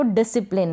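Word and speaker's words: discipline: तो यहाँ पर भी एस सी के बाद आई है। क्या है? एस सी के बाद आई है, इसलिए हमने एस सी को स पढ़ा और फिर पी का प प्रोनाउंसिएशन होता है। पी का प प्रोनाउंसिएशन हो रहा है। यहाँ पर पी एल को साथ में पढ़ेंगे तो प्ल बनेगा। क्या बनेगा? प्ल। तो डिसिप्लिन। क्या हुआ? डिसिप्लिन।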